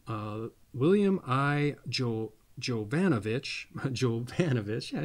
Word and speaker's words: Jovanovich: and Keith William uh William I Jo jovanovich jovanovich yeah I said it right a publisher it